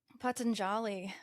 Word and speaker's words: Patanjali: And Patanjali, I think that's how you pronounce his name.